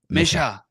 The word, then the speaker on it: Mischa: But see, now that I talk with you, I pronounce my own name like Misha. It's Oh Misha, yeah, Mischa, Misha, Mischa, Misha.